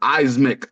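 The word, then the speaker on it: Eyesmick: to say it wrong it's pronounced eismic like if you read it it's e-y-e-s m-i-c-k yeah like on my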